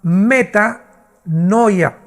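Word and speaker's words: μετάνοια: Shuf se pronuncia y la palabra griega es la palabra meta con m de mamá meta noia.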